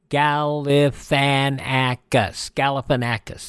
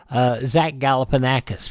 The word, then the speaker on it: Galifianakis: It is spelled out. Galifianakis. There you go. From The Hangover, Zach Galifianakis, 55 years old today.